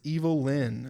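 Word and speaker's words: Evil-Lyn: has been cast as evil Lynn is that how you say it I think so that's literally how it was spelled there so I think it's Evelyn cuz supposed to be a pun on Evelyn yeah that's why I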